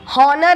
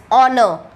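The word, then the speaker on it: honour: Okay, हॉनर नहीं कहते, ये ह साउंड साइलेंट रहता है, इट इज ऑनर, राइट?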